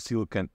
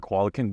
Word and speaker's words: coelacanth: He or she already has 12,000 worth of coelacanth fish or coelacanth, depending on how you would want to pronounce it.